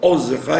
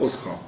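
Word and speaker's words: עֻזְּךָ: Tu les as conduits, Ozcha, vous voyez, il faut dire Ozcha et pas Oscha. Il faut prononcer le Sheva du Zayin.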